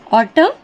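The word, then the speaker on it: autumn: alphabets है हमारे पास अगर शब्द का आखिरी अक्षर एन हो और उससे पहले एम आए तो एन साइलेंट हो जाता है अगर शब्द का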